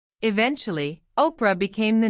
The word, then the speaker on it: Oprah: Her name, Oprah, was supposed to be Orpah from the Bible. But people often said it wrong. Eventually, Oprah became the name everyone used.